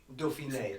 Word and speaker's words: Dauphiné: And it channels down through here, and so you naturally follow it up into the Dauphin, or however you pronounce it. Dauphiné.